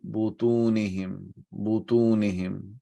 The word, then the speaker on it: بطونهم: Fi butunihim, that's plural. So we need to make sure that we pronounce dhamma instead of fatha.